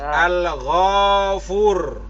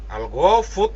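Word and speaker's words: الغفور: Berarti al-ghafur. Kan begitu. Mending berhenti daripada sembarangan. Al-ghafut lah.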